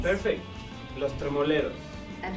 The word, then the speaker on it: Tremoleros: How's it really pronounced? That's perfect. Los Tremoleros.